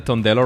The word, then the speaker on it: Tondello: have tondello did I get the tondello right is that the right pronunciation yes that's right perfect are you prepared